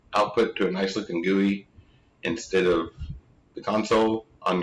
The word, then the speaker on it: GUI: user interfaces, GUIs, or we often go ahead and pronounce that GUI.